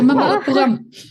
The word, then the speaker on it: Mamallapuram: Yeah, Mamallapuram. Oh. Not only have you been to Mamallapuram, you also pronounce that perfectly, which a lot of people in India find difficult.